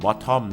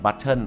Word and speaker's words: bottle: มาก ชอบ ออก เสียง คำ นี้ ว่า เป็น Bottom นะ ฮะ แค่ ไหน ให้ บ่ ชอบ บบบ ถ้า เกิด ขอ น้ำ 1 ต้น หน่อย แฮ่ แค่ ไหน ให้ bottle of Water ขอ น้ำ 1 ปุ่ม หรือ น้ำ